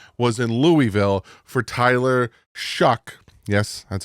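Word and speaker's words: Shough: took Josh Allen was in Louisville for Tyler shuck yes that's how you say his name prod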